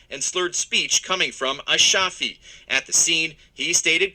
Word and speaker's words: Ashafi: The man being questioned is Highland Park City Councilman Kersheed Ashafi. It's Monday just after 11 p.m. A shafi, that's how you pronounce his name.